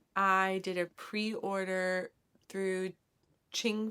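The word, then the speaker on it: Qing: did a pre-order through Ching Fiber. Um, I think that's how you say it. Q I N G.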